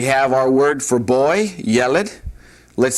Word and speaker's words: yeled: The accent is on the first syllable. We have a segol under the second letter. So yeled is how that's pronounced.